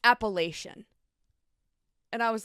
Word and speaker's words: Appalachian: lives in that area they're gonna tell you it's appellation so I play Google pronunciation